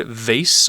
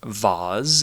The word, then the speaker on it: vase: talk about this word vase or vaz if you prefer both of those pronunciations are acceptable vase is a noun